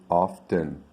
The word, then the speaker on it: often: a rustle what about whistling whistling tomboy boy often often and i heard a lot of people